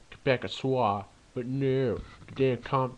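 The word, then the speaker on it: Québécois: Sorry, but it's supposed to be pronounced Quebecois, but no, the damn common quarters.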